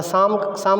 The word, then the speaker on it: psalm: मतलब होता है न शाम का मतलब पीस में साइलेंट है शाम का मतलब संगीत